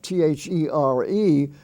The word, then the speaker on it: there: spelling form you have t-h-e-r-e which is pronounced there like he went over there or w-h-e-r-e which is pronounced